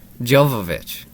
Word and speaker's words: Jovovich: me how do you say her last name jovovich jovovich i was off that guy oh no